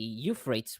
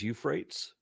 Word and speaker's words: Euphrates: is in that area you pronounce that as Euphrates you well it's for the it's for the English people Euphrates oh my English is